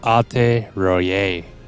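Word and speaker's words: Alte Roite: Oh, apparently the tea is silent per Google, so it's Alte Royer.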